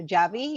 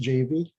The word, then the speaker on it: Javi: to clarify my my my first name is pronounced jv but that's okay i get that i'm sorry it's jv that's okay so let